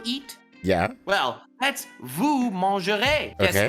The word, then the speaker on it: mangerez: Well, that's vous mangerez. Guess Okay. how that is spelled at the end? With a silent Z. That is correct. It ends with E-Z.